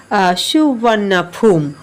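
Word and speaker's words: สุวรรณภูมิ: এটা পাস্ট টেন্সে আছে দ নেম সুবর্ণভূমি ইজ প্রোনাউন্সড এজ সুবর্ণাফুম অর্থাৎ এই যে সুবর্ণভূমি নামটা এটা সুবর্ণাফুম নামে উচ্চারিত য় প্রনাউন্স মানে হচ্ছে উচ্চারিত হওয়া।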